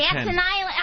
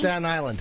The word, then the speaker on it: Staten Island: Staten Island. Okay. Teach me how to say it, Jimmy. Staten Island. Staten Island. Staten Island. Staten Island. Yeah, Staten Island. Staten Island. Yeah. My tongue goes the other way.